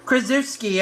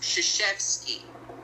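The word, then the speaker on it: Krzyzewski: Want to go ahead and make that your Krushki. I guess that's his last name. Keski. Keski. No. Yeah, it's it's pronounced shasheski. Shashetski.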